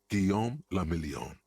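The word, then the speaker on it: Guillaume Le Million: meant only one thing Gom lilon if it doesn't rhyme you're not pronouncing it right that's true out of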